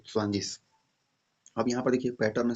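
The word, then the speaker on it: zwanzig: यहाँ पे ग है ना, ग, ग नहीं होगा, स्वांजिस होगा, श होगा, ठीक है, स्वांजिस। ये ग नहीं होगा, इसके जगह पे स होगा, ठीक है, तो स्वांजिस।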